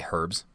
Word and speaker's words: herbs: did you know that over in the UK they pronounce the H in herbs to say herbes oh yeah I yeah